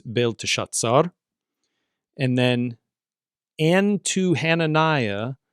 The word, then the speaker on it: Belteshazzar: He gave the name to Daniel, or he gave to Daniel the name Belteshazzar, which, we typically pronounce in English as Belteshazzar, but Hebrew here it's Belteshazzar.